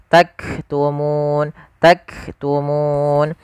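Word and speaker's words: تكتمون: Awalnya bacanya taktumu. Nah, karena kita sukun nunnya menjadi sukun arid. Sukul karena waqaf maka muna menjadi taktumun. Nah, di sini munya panjang dulu baru matikan.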